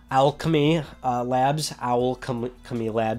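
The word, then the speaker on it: Owlchemy Labs: You might not know their name, but you know their game, Alchemy Labs. That's how you pronounce their name.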